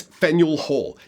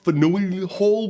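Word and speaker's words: Faneuil Hall: place on the road to Freedom Quest is fenel Hall yes that is how you pronounce it not fenu Hall which is how I honestly thought it was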